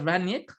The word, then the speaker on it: Rangnick: By the way, for those who don't know, it's not Ralf Rangnick. I have it on good authority from some German people. That's actually Rangnick. That's how you pronounce it, Rangnick. So not Rangnick, as some English commentators mispronounce it. It is actually Rangnick. So I mean, I don't know. I mean, there's all sorts of pronunciations out there. Maybe that's the Anglophile pronunciation is Rangnick, but the German pronunciation is Rangnick.